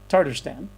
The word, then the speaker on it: Tatarstan: How you pronounce it? Tatarstan.